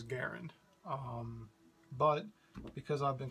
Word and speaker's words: Garand: the description ok m1 grand or I i believe the credit correct pronunciation is garand um but because I've